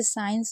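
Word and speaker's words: science: जैसे साइंस में आप देख रहे हैं। यहां पर हम आई को आई पढ़ रहे हैं।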